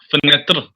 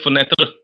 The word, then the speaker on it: fenêtre: The E, the last E there is not pronounced because in French, naturally, the last letters are never pronounced. A window is what? Fenêtre, fenêtre. Say fenêtre.